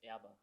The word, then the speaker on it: Erber: Uh, I'm here with Elias Abba. Did I say it right? Almost. Almost. But I was trying. I was trying pronounce it right. Elias Aba.